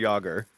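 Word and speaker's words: Jágr: last name when yarmir Jagger okay rhymes with lager there's a brewery in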